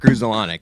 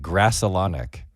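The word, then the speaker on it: Grudzielanek: Weird side note: Vince Scully used to pronounce it Grassalonic, like Grass. Very weird. He used to say Grassalonic.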